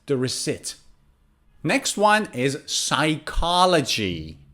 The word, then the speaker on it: psychology: recit next one is psychology now the first p is silent so you don't say psychology you say psychology i think psychology is